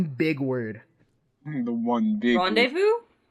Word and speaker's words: rendezvous: The one big Rendezvous? That's how you pronounce that? Yeah, rendezvous. It's That's French.